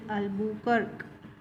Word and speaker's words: Albuquerque: It is pronounced as Albuquerque.